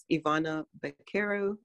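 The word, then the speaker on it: Ivana Baquero: looking for someone younger but um the actress ivana caro pronounced that correctly um she was 11 or 10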